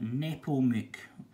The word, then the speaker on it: Nepomuk: But then Georg and Maria sent young Alois away to Georg's brother's house, who was Johann Nepomuk. Or how do you pronounce that? Nepomuk.